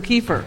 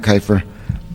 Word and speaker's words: Keifer: yes my name is keifer it's actually pronounced with the long eye i'm going to defer